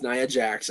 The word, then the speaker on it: Nia Jax: It's Nia, right? I keep saying Nia. Everyone keeps saying I'm I'm pronouncing it incorrectly. Yes, it's Nia Jax.